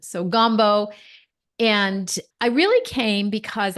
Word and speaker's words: Gambault: My husband is French, so that's why my last name is spelt like it is, and you pronounced it beautifully. So Gumbo.